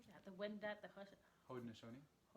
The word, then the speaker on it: Haudenosaunee: Haundenosaunee and Anishinabewaki peoples. How do you know how to say that? The Wendat, the Haundenosaunee.